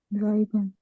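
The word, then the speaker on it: sieben: जीब जेड की आवाज के साथ जी या जीबन याब सर मैं रिपीट करना चाहूंगा जीरो से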